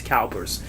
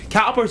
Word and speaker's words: CalPERS: their retirement and they put them to Investments Calpers Calpers is spelled c a l p e RS it's